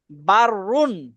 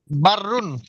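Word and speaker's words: بر: বাক্যটাই শব্দটাই দুররুন দুরুন বাররুন বাররুন আরিফ ভাই এটা কি বারুন কিভাবে হল বা র জবর বার র পেশ রুনরুন সাফান ঠিক আছে আরিফ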